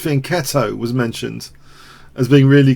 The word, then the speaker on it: fianchetto: And the fianchetto, pronounced fianchetto, was mentioned as being really clever.